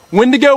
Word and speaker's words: Wendigo: to say its name it rhymes with window but uh we're here to see something right so uh when to go when to go when